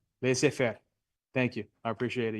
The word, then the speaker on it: laissez-faire: Laissez-faire. Yeah, it means let it be, let it alone, right? Laissez-faire. Thank you. I appreciate it. Your pronunciation is spectacular.